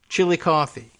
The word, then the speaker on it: Chillicothe: is so it's a I guess Chillicothe chilly coffee would be the better pronunciation but in Ohio and